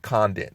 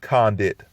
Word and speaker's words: Condit: conden versus matt brown i said his name kind of funny conden it's con did but may i said it wrong again but out of the